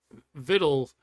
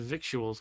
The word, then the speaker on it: victuals: well or something but I I thought it was for another victuals because that's how it's spelled then I looked it up and it's actually vittled anyway all right says